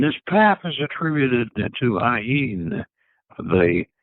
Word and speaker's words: Ayin: And he says, Ayin, pronounced Ayin with a slight nasal twang, which means the eye, referring to the eye of Shiva, said to be atrophied into the pineal gland.